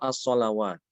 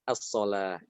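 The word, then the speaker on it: الصلاة: As-solata atau as-solawat? As-salata. Eh? As-salat. Ada yang baca as-solawat? Ya, yang baca as-solawat salah ya, harusnya as-solah, as-solata ya.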